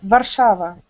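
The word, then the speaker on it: Warszawa: you mean in polish in polish we say like varshava oh so it's very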